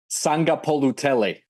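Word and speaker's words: Sagapolutele: Sangapolutele. That's the accurate pronunciation there for one of the best prospects nationally.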